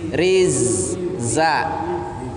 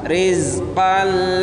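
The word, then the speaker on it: رِزْقًا: Minas samarati rizza, jangan sampai za di situ di qalqalah karena dia bukan huruf qalqalah. Rizqan lakum, jangan bacanya riz, salah, ya. Rizqan lakum.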